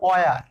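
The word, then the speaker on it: where: Watt হিসেবে, তো watt, যেমন আমরা বলি হয়ার, কিন্তু রাইট প্রোনাউন্সিয়েশন অয়ার, হাও না, হাউটা অবশ্য হাউ প্রপারই আসে, যেমন হোয়েন না, উচ্চারণ হবে ওয়েন।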